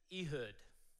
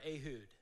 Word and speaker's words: Ehud: judges or deliverers and his name is ehood or ahud depending on how you mispronounce it as an american i'm gonna go with uh ehood so ehood is a